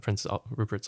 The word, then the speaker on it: Prince Rupert: how do you say okay sorry prince rupert prince like rupert like the royal title prince yes rupert yeah he was